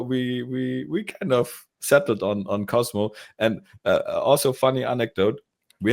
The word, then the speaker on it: Cosmo: We meet with them and they spell it in a very they always say Cosmos, and we always lose it.